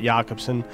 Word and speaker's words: Jacobson: then there was uh yakobson is that how you said it it was spelled Jacobson but I believe he pronounced it yakobson who was this guy